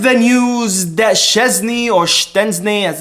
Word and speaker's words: Szczęsny: Now, beginning this video with the news that Szczesny or Szczęsny, as it's correctly pronounced, apparently, I think I've gotten the confirmation